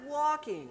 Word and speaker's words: walking: do you pronounce it walking there's an L in there though I don't hear that walking no walking walking